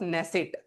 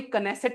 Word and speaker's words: नेसेट: देखो 2026 में इजराइल ने अपना एक अवार्ड जिसका नाम है स्पीकर ऑफ नेसेट। बेटा इसको कोई कनेसेट मत पढ़ लेना। के साइलेंट है।